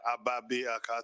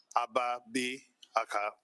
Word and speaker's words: Agbabiaka: Agbabiaka, 3 syllables. The G silent, Agbabiaka.